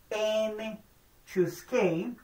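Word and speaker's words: n choose k: with n distinct elements NC K which is pronounced n chose K is the total number of distinct subsets of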